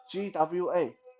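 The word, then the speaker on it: 剐: Gua, just one word. Gua. GWA.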